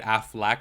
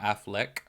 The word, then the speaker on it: Affleck: I was like oh I have always said afflac not Affleck Affleck I feel like I still say it wrong to be quite honest with you but I'm just like wait why have I been saying it like that forever like the afflac like um Insurance that's how I've been saying